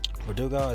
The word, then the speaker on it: Verdugo: today another guy love Alex Verdugo we're do go that's how you pronounce it alright 2 foot 3